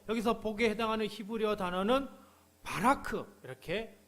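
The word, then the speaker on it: בָּרַךְ: 자, 또 복을 주시고 여기서 복에 해당하는 히브리어 단어는 바라크 이렇게 발음을 합니다.이 말은 단순히 돈이나 건강 같은 부분적인 복이 아니라 삶 전체에서 넘쳐나는 하나님의 복을 의미하죠.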